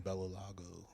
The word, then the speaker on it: Bellalago: Me and my friend, we used to get, whenever he actually lived in Bellalago. That's how you say it, right? Yeah.